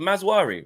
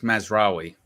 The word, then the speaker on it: Mazraoui: Is it Mazwari or Mazuri or Mazwari? I think it's Mazraoui.